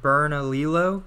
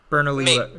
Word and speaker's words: Bernalillo: it i don't know i always get confused with the double l's well it makes like it's supposed to make like a y sound like a tortilla like um so berna lee yo bernalillo yo okay maybe i